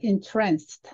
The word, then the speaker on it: entranced: I asked entranced. 제가 여기에 액센트를 넣어서 읽었죠. 그렇게 뒤에 액센트가 오면은 어떤 것에 도취되다는 거예요. 황홀해지다. 하지만 앞에 액센트가 올라서 entrance라고 읽으면 출입구라는 뜻이에요.